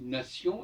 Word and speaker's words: nation: connectés par exemple quand quand je dis nation N a T N je prononce comme si c'était un C na C o